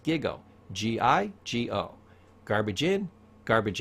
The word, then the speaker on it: GIGO: It's called gigo. It's pronounced gigo.